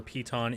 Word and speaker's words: piton: Is it anything like a piton? Is that how you pronounce it? Yes. I've never actually heard it in speech. Piton is how it's Python.